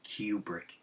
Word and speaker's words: Kubrick: That's much of a genius Stanley Kubrick, that's how you say his name, by the way, Kubrick was.